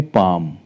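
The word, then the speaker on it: palm: pronounce नहीं करेंगे पाम पी ए एल एम पाम हथेली नेक्स्ट एग्जांपल है हाफ देखिए भले यहां पर जो एल है वह आ रहा है एफ से पहले है तो इसलिए साइलेंट है एफ से पहले एल है तो वह साइलेंट है हाफ हम एल को प्रोनाउंस नहीं करेंगे और हाफ का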